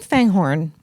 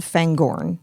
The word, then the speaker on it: Fangorn: You keep saying Fangghorn. Mhm. There's no H in the book. Yeah. It's spelled Fangorn. Yeah. Is that like from the movie or like why do you keep saying Fang Horn?